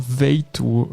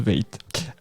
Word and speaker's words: V8TE: à la société alors veille tôt v8 que comme vous voulez mais je pense que ça se prononce veille tu sais donc société française